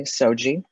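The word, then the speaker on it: SOGI: in a different way soji is what i affectionately pronounce it as and when we're looking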